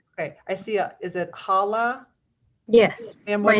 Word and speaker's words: Hala: support correct correct okay I see is it Hala yes my name is my name is Hala and I am also here to support